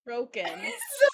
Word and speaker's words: Crochan: said Cochrane in my head the entire time I read But it, and then I was like, "Oh, it's Croken."